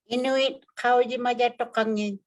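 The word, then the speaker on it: Inuit Qaujimajatuqangit: How do you pronounce IQ? Oh, you have to unmute. Inuit, how di majatukangin?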